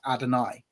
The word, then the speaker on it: Adonai: But um you were meant to see that and see the vowel pointings and then go right that's meant to be pronounced adoni.